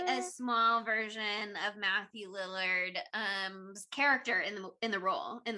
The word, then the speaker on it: Lillard: If Matthew Willard, wow, can't even say his name. I know what you're gonna say, and I love it. Lillard.